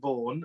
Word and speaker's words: Vaughan: You see, for the folks that are watching, Karen has her Karen Vaughan, that rhymes with Frankie Vaughan, has her virtual pub on a Friday and a Sunday night, and it's a wonderful.